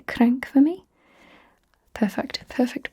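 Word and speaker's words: cranc: Can you say crank for me? Perfect. Perfect press on the R there.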